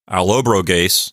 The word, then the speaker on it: Allobroges: So Allobroges with an ES at the end. And I'm pretty sure that the accent is on the antepenult. So Allobroges is how I'm pronouncing it.